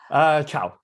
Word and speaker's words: Cho: Chow. Oh, Chow. Okay, Yeah, Dr. C-H-O. Chow. Chow, Chow.